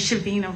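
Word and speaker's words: Shaveena: Once you're seated, just state your name and spell it from a court order, please. My name is Shabina, spelled S H A V E E N A.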